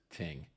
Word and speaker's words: Thind: His last name is spelled Thind, and I'm not sure, but I believe it's pronounced Ting.